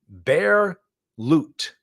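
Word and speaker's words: Bear Lute: He guarantees returns, outright rejects SEC regulations, and calls his investment program Bear Loot. Like loot, like L-O-O-T, but it's spelled L-U-T-E.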